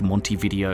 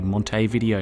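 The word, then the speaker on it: Montevideo: I'm not even sure it's meant to be pronounced Monty video. It's probably Monte Video now that I think about it.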